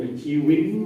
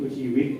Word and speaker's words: ชีวิต: เมื่อ กี้ แอบ สังเกต คำ ว่า ชีวิต มี คน แอบ เปลี่ยน ตัว สะกด จาก ต เต่า เป็น น หนู เป็น ชีวิน หมด เลย นะ ครับ อัน นี้ ไม่ เอา นะ ครับ ขอ ถ้า ชีวิต ก็ คือ ชีวิต แล้ว ก็ ให้ เสียง